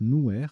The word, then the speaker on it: nuer: Alors, nuer, N-U-E-R, c'est un verbe, mais c'est aussi un adjectif qui se prononce nouer, N-O-U-E-R.